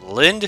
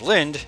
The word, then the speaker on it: Linde: the shadow dragons DLC you say it as Linda I think that's how